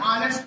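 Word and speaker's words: honest: अब यहां है साइलेंट, एन ऑनेस्ट मैन।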